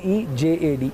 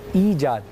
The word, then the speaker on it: ایجاد: استعمال کیا تھا ایجاد، جبکہ لفظ ایجاد، اگر میں آپ کو رومن میں سمجھاؤں تو EEJAD، ایجاد.